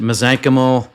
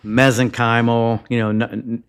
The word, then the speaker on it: mesenchymal: Yeah, so you can pronounce it mesenchymal, mesenchymal. I've heard, you hear it both ways.